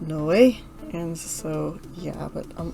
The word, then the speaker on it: Noé: bad with symbols but i looked it up and from my understanding his name is pronounced no way and so yeah but